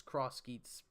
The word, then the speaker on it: X Geats: we're gonna make it X Geats, but it's Cross Geats pronounced. All right, yeah, thank you. Izanagi was a rumor for his name, but the actual name is Cross Geats.